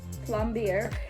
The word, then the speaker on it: plombir: I think that is pronounced Plombier, is a retro Russian ice cream with one defining factor: it's extremely rich.